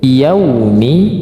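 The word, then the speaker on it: يَوْمِ: panjangiki nah yau yaumi bukan pakai O ya tetapi U yaumi hati-hati menjadi yau bukan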